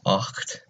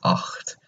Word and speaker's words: acht: to pronounce it as acht. So you have to have a little bit at the back of the throat whenever you say that number.